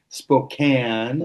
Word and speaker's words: Spokane: How do you pronounce that? Spo Spokane.